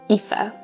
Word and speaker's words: Aoife: But he wants a nice family again, so he decides to remarry, and he marries Aoife. That's spelled A-O-I-F-E.